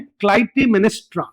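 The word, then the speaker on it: Clytemnestra: hand of क्ल क्लाइमेस्ट्रा इसका जो नाम है क्लाइमेनिस्ट्रा ऐसे ऐसे प्रोनाउंस करना है क्लाइ मेनेस्ट्रा ऐसे प्रोनाउंसिएशन करना है इसका बहुत इंपॉर्टेंट फिगर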